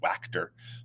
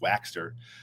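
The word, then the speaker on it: Waechter: They made a point to to pronounce his name, which I never knew. I always thought it was Waxter, but you know, it's it's Waxter.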